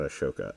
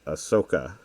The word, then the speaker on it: Ahsoka: Andor or Kenobi and now Ashoka is not Ashoka Ahsoka I always say it wrong is out and